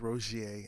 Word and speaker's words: Rogiers: you everybody for listening um my name is roger that's spelled r-o-g-i-e-r-s and you can find me a